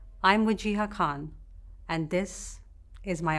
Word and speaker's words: Wajeeha: My name is Wajeeha, not Wajo, not Wahiji or Wajika. It's 3 syllables, Wajeeha.